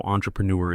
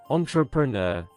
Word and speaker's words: entrepreneur: Entrepreneur. Entrepreneur. with clear syllables, slightly formal tone. The entrepreneur launched her startup in London. Entrepreneur. Entrepreneur. R at the end is strong and rounded.